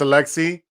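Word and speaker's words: Aleksej: boy oh come on alexi no yeah it's alexi that i don't think you pronounce the j pocuchevzi cevsky yeah serbian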